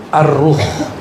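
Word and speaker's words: الروح: Sekarang masuk ke istilah kedua, yaitu ar-ruh. Bukan roh ya, ar-ruh. Kalau roh apalagi tuh ya. Bacanya ar-ruh pakai alif lam.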